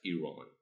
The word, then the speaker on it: Iran: Is that how you say it? yeah, that's Iran. Iran.